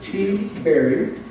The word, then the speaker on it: Tiberi: Pat, whose last name is pronounced T. Berry, is a lifelong resident of the 12th Congressional District where he serves.